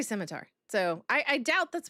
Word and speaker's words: scimitar: I'm fairly certain that's not what a a How do you pronounce it? A scimitar. Skimitar. I say scimitar.